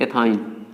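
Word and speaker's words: ethyne: अब इसके नाम लिखना, तो जैसे 1 कार्बन 2 कार्बन, हाँ उच्चारण इसमें कहा जुड़ेगा, YNE, आइन। 1 कार्बन 2 कार्बन, 2 पे क्या होता है, एथ, और इसी में जोड़ दीजिए तो आइन, एथाइन, चाहे हिंदी में लिख लीजिए।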